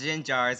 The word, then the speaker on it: Gengar: gin jars gengars okay it's it's pronounced gin jars in my eyes so and the files